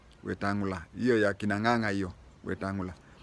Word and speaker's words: Wetangula: The name is Wetangula. Wetangula.